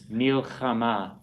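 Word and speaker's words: מלחמה: So it would always be silent when found at the end of a word. Well, that's a hey at the end. Right. So that's why it's, it sounds more silent. It's an H sound. Milchama. I mean, if we make an H sound at the end of a word, it's real hard to hear.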